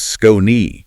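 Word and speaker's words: Skoni: S K O N I pronounced Scone.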